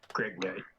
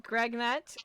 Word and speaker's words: Gregnut: It's spelled G-R-E, and another G, and then all in the same word, N-U-T, Greg Knight. Understood. So in your tongue, it means the handsomest. understood. Oh. So Gregnut, with his carefully polished front 2 teeth and